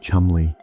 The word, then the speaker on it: Cholmondeley: Second, Charles Cholmondeley, pronounced Chumley, an RAF officer assigned to MI5, eccentric, creative, a bit whimsical, the ideas man.